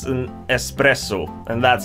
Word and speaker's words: espresso: in Swedish as well the problem is a lot of sweets pronounce this espresso which would mean that that's it's a very fast type of coffee Express oh coffee fast with that said we're